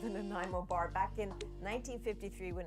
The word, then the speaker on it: Nanaimo: Listen carefully, everyone. It is Nanaimo. Nanaimo. I would hope that people would just figure out how to pronounce Nanaimo.